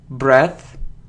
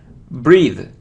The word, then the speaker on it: breath: Okay, you see that we pronounce it as breath. So if we have E in the end, so it's breathe.